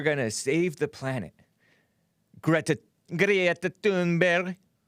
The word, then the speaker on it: Thunberg: Greta Thunberg. That's her Swedish pronunciation. Except I'm saying it kind of harshly.